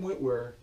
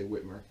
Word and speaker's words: Witwer: Interestingly, Sam Witwer, that's how you pronounce it, Sam Witwer. I always say Whitmer.